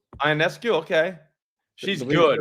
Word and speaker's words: Ionescu: Sabrina Ionescu? Ionescu.